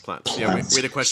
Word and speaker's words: plants: um plants again plots plants like the t is the t is the t pronounced like plants so it sounds like it's like a ts type exactly so the t